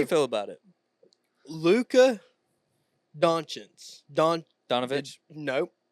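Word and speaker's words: Dončić: It's not Donovitz. It's Doncic. Which language?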